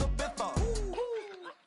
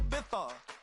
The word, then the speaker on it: Ibiza: I just went to Spain, that's a biffa. Ibiza. Yeah, it's pronounced Ibiza, actually.